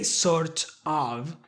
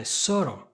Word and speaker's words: sort of: Now look at the pronunciation. You're not gonna say sort of, but you're gonna put them together. Soro, soro.